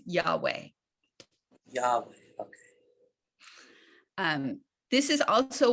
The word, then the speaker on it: Yahweh: can tell you that the way that this name is pronounced in the richard elliott freeman book and by most scholars for your understanding of what j refers to only is yahweh okay um this is